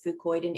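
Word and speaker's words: fucoidan: talking about the ingredient fucoid and f-u-c-o-i-d-a-n which is an extract Sizzle spookoid and it's pronounced the same way but spelled differently um all the studies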